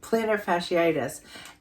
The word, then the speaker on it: plantar fasciitis: Fanny fasciitis how do you say that especiitis plantar fasciitis and I knew immediately I was like this